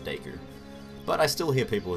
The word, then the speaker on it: Deku: to work out that they obviously intended it to be pronounced deku but i still hear